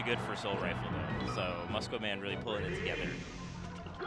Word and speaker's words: Muscoman: Muscoman, yeah.